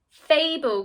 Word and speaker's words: fable: we might pronounce it fable good job the word is fable just like in maple we're not pronouncing the at the end fable and maple both